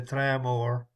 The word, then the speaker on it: Tramore: We had a good winner in Tramore, or as the locals say, Tramore.